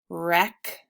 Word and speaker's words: wreck: So WR says the W is silent.